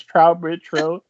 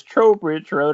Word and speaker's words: Trowbridge Road: road which we were just discussing i've been mispronouncing as trout bridge road but it is tro bridge road and it is available uh october 6th right